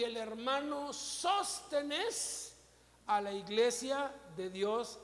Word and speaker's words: Sóstenes: Algunos leen así, y sostenes. Y digo, no, Sóstenes. Tiene acento en la O.